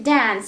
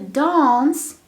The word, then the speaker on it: dance: dance to dance right to dance american pronunciation to dawn's british pronunciation so you can say dance or dance so to dance and